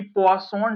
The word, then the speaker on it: Poisson: पॉइजन distribution पढ़ रहे थे हम, जिसको वैसे मैंने आपको बताया था कि पॉइसन डिस्ट्रीब्यूशन प्रोनाउंसिएशन करते हैं। इसकी प्रोनाउंसिएशन हम ऐसे करते हैं, बट ठीक है, क्योंकि फ्रेंच वर्ड है उस पर डिटेल में